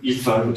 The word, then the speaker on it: Ethan: Ça vient du blog de Ethan Mollick, IFAN, si on prononce à l'anglaise.